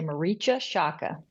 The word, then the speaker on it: Marietje Schaake: I'm from the Netherlands it's in incredibly hard for anyone non-dutch to pronounce but the English speakers usually say Mara Shaka I do apologize for